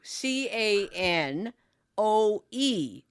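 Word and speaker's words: Kinew: But I heard canoe, but it's pronounced canoe, but it's K I N E W.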